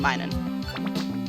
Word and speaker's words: Minun: Oh, Plusle and Minun. Yeah, Puzzle and Minun.